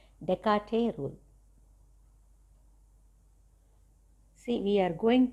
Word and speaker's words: Descartes: Okay, so here you have to pronounce this as Descartes, and this S and this S is silent, and this is named after the French mathematician.